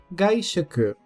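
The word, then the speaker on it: がいしょく: E um último exemplo de palavra que contém esse kanji, gaishuku.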